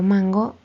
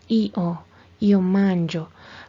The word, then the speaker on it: mangio: de terminar en o, en vez de decir io mango, le agregamos io mangio, para que suene como su verbo de origen, mangiare, io mangio.